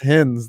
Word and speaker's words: Hines: though man everyone does it's pronounced hins though i think i got